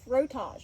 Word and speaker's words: frottage: It's called frottage. That's how you say it, frottage.